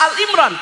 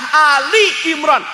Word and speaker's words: Ali Imran: Dalam kompetisi pembacaan Al-Quran , jika Anda membacanya sebagai "surat," istilah yang benar adalah "surah. " Dan jika tidak dapat dibaca sebagai "Al Imran," cara yang benar adalah "Ali Imran."